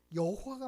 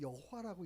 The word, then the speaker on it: 여호와: 여호와라는 단어가 여호와가 맞는지 야훼가 맞는지 모르는 거예요. 그래서 지금은 두 개를 다 쓰고 있는 거죠. 어느 교단에서는 야훼라고 하고 어느 교단에서는 여호와라고 읽어요.